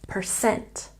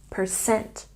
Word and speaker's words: percent: So remember to put the stress on the second syllable, percent, percent.